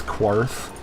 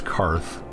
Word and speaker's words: Karth: like that is because she mispronounces it as quarth and they correct her and it's karth so that leads me